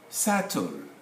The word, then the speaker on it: subtle: one of germanic and romance languages they have silent letters doubt subtle as you can see the b subpoena this